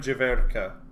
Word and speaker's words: Jiverka: I'm 90% sure I don't pronounce it the way most people would pronounce it. So it's Jirveraka, I think is how most... Or Jirvarka. But it's Kware Jiverka is the way I pronounce it. So it's Jirverka.